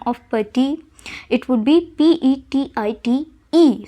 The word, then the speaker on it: petite: pati, it would be PETIT, E. So E is there, so we won't pronounce E, but we will pronounce the last T, that is petite.